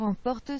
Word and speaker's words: emportent: The port is spelled P-O-T-E-N-T, but I think the pronunciation, they miss out the N-T.